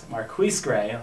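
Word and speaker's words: MarQueis Gray: And maybe if they can force some turnovers, because I'll say it right this time, Marquise Gray, very sophisticated.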